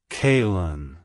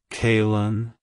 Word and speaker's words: Kaylyn: water it's pronounced as kaln kaln kaln to pronounce it correctly emphasize the k and Lynn sounds with a slight pause in between like hello kin goodbye